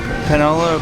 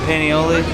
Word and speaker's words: paniolo: do you pronounce it something like cowboy burger but Danny it's a Panola paniolo look at these fries